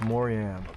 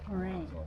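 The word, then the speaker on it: Moraine: Beautiful Lake Moran. Morin.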